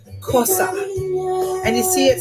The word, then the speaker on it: Xhosa: the slide here since X H OS a F pronounced Xhosa and that type of language has a lot of clicks in the mouth and so let me